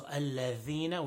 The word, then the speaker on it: الذين: So الَّذِينَ, we've been talking about the dhal all along. So make sure the dhal is strong and it's pronounced from the proper place.